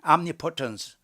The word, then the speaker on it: omnipotence: 그래서 omnipotence, 옴니라고 발음하면 안 돼. omnipotence, 이걸 갖다가 전능, 모든 것을 할 수 있는 하나님.